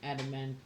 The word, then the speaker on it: adamantium: Okay, I thought I had been pronouncing adamantium.